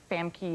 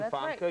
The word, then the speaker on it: Famke: it is though because everybody mispronounces my name all the time they make frka or FY or whatever out of really well FKA that's your name FKA you're a very attractive